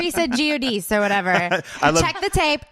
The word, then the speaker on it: Giudice: Oh, yeah, Giudice is even better. Giudice, I think, is like the proper pronunciation.